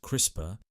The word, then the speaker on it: CRISPR: busy life today we're going to delve into crisper a groundbreaking technology that's revolutionizing genetics and could transform medicine Agriculture and many other fields in ways we never thought possible what is crisper c i spr pronounced crisper stands for clustered regularly interspaced short palindromic repeats